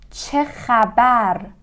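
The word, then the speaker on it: چه خبر: What's up or how's it going is chechabar. Chechabar. Che is a letter that may be a little hard for English people to pronounce it.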